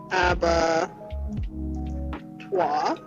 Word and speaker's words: abattoir: So, this is how they do the pronounce it. Aba tuah noun and they also put down bread here a slaughter house abattoire.